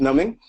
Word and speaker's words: numbing: Psychic number, wow, the B is silent. Psychic numbing and somatization.